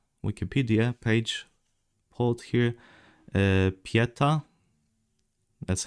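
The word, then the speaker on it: Pietà: Uh, pieta, that's how it's pronounced in Italian at least, meaning piety, compassion.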